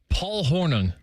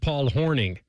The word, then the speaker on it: Paul Hornung: Paul Hornung. The way you pronounced it was exactly the way it's spelled. Yeah, that was I honestly think he pronounced it Paul Horning.